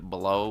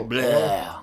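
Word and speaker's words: Blough: Blau, blue, bleh. Yeah. It's more like bleh.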